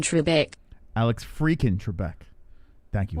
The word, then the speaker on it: Trebek: right wonderful uncle mark you're saying it all wrong it's alex freakin trebek alex freakin trebek thank